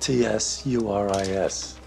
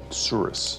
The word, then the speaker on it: tsuris: How do you spell that? T-S-U-R-I-S. Tsuris.